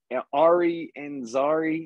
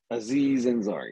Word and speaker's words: Aziz Ansari: So we're gonna watch Ari Ansari. I think is how you say his name. I can't remember. We're gonna watch out for next week. Aziz Ansari.